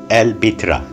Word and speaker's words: البتراء: word and means big rock in arabic it pronounced el bitra it was included in the unesco world heritage list in 1985.